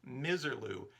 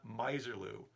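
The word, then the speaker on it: Misirlou: that's how it said but it is most definitely miserloo and don watson my old friend if you're watching we've been mispronouncing this since high school maybe you figured it out already but from now on it's miserloo not miserlu also on that episode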